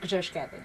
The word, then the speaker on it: Grzeszkiewicz: Very difficult last name, That's right. but it's pronounced Grzeszkiewicz. Beautiful. Thank you. You did it right.